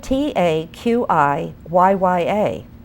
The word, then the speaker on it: Taqiyya: It's spelled Taqiyya.